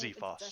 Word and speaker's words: Zephos: It's a Zephos, short yes, a Zephos.